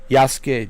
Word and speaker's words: Yasuke: It's really being pronounced Yasuke.